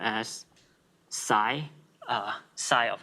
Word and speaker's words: psi: i i will use this thing which is pronounced as psi psi of s and the expansion of a